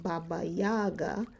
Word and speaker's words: Baba Yaga: To the Slavic peoples of Eastern Europe, Baba Yaga, pronounced Baba Yaga, is the old woman of autumn whose spirit lived in the last kernel of harvested grain.